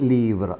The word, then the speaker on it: livres: We have seen un livre, des livres. Only the article change in pronunciation. Un livre, des livres. Though when we write, you write L-I-V-R-E-S, but the pronunciation will be livre.